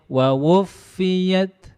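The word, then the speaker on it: وَوُفِّيَتْ: Ketika bacanya wa wufiyat, enggak ada tekanan di situ, itu hamesnya enggak terasa.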